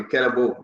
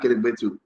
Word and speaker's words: Kelabo: You see, today I pronounced the name the correct way, Kelabo, not Kelibetu.